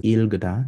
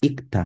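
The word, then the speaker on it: 읽다: So L and G or G when, so you don't pronounce this as ilgda, it's ikta with a G.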